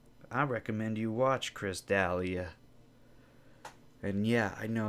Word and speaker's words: D'Elia: recommend you watch Chris D'Elia and yeah I know his name's not pronounced Dahlia I'm doing it on